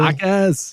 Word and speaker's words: Jaquez: I have no idea how to pronounce his name, but I think I'm going with Jaime Jaquez on Miami. Jaquez, yes.